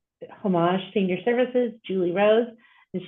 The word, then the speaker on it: Homage: And for those of you who are not familiar with Homage, saying the word homage is the most confusing thing. So we pronounce it Homage Senior Services.